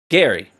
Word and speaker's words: Jerry: Gary, by the way. It's spelled like Jerry, but it's Gary.